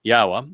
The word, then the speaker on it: Yahweh: We can pick up our our pace in this Yahwa which is the proper pronunciation of the name of God as directed by his Torah teaching regarding his higher existence.